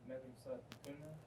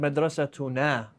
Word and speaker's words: مدرستنا: Did I say madrasa tunna? No, I thought you said madrasatuna with a long a to mean our. Yeah.